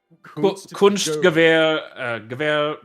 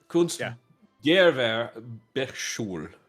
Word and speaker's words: Kunstgewerbeschule: Kunstgewehr. No, there's no H. Kunstgewerbeschule.